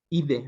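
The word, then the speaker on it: -idae: Con D, idae, que dicen los que saben que se pronuncia ide, ¿no?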